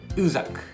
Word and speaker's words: USAG: ちら、 USAG と書いて USAG、ね、イタリアの工具ブランドなんですね。